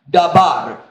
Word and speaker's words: dabar: I mean, my pronunciation will be wrong, but it's something like dabar.